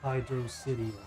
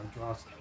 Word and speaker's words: Hydro City: since nobody apparently knows it's Hydro City or hydrosity oh so there's people who pronounce it differently or something I pronounced hydrosity my whole life supposed to be Hydro City yeah sounds like you're